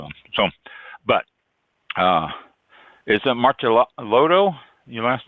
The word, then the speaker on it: Martellotto: So, but is it Martellotto, your last name? That's right. Yeah, Martellotto is the American pronunciation, and that works. I'm American. That's how I pronounce it.